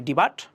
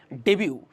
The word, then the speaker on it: debut: উচ্চারণ করতে পারি ডিবাট, বাট এটা ভুল হবে, এটা হবে ডেবিউ।